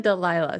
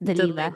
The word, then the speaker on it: Dalila: Because I know, so I said Delilah, so it was Delilah. In the audiobook, that's how they pronounced it, was Dalila. Delilah.